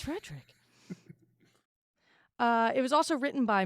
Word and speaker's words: Frederick: Do you pronounce it Frodrick? No, it's Frederick.